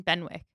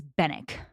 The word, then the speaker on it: Benwick: a third person, Captain Benwick. Okay, so here's the thing. I read this entire book pronouncing it Benwick. Is it not Benwick? It's Bennick. Thank you.